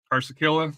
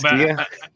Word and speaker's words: Carrasquilla: right, uh, Herrera and Carsakilla, and I'm sorry I mispronounced that. Artur as far as the midfield. Corsicilla. Oh man, How about, Carrasquilla. huh? You're talking about Carrasquilla, right?